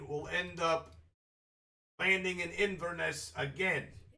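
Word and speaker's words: Inverness: end up landing in Inesse again. Iness. Yes, it's three syllables and we'll end inveness that day.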